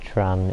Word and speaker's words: train: I believe train is pronounced tran in French.